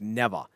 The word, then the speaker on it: Nevaeh: eaten yet Nieva nirvana Nevaeh that's heaven spelled backwards it's spell it pert it's pronounced never what are you doing